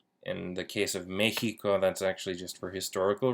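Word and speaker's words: México: lick Seco so max Mexico Mexico is actually a bit of an exception typically when we have an X followed by an i we will actually use the sound in the case of Mexico that's actually just for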